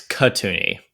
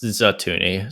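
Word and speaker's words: Katooni: I just realized I was saying her name wrong. It's Katuni, not Zatuni, so I apologize.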